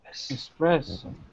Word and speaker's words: espresso: Yeah, you gotta make sure when you have the S, you're not really pronouncing the E.